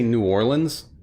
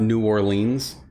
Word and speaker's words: New Orleans: Um I was going to say earlier that um a giveaway is that like they pronounce uh it's we say New Orleans not New Orleans and uh we don't say Lafayette, we say Lafayette.